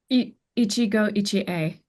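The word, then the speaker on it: 一期一会: Ichigo Ichie.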